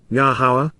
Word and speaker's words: Yahowah: For thus says, Ky Koamar, Yahowah, Yahowah, the proper pronunciation of Yahowah, our Eloah, God has